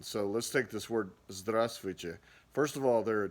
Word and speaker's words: Здравствуйте: The first V is silent, and then that last T is actually kind of soft. Здравствуйте.